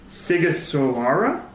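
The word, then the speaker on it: Sighișoara: in Paris in the fortress of siga sawara that's how that's pronounced at it it's not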